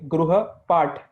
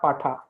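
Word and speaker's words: गृहपाठ: So Paula, the pronunciation will be Gruha Part, not Patha.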